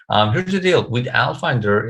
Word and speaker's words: Alfinder: not all finder it's ai finder right well it's al finder actually so it's that is